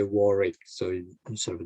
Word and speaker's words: Warwick: don't say a word wick when you say warwick so you sort of a double r and the warrick i think it's it don't say if switch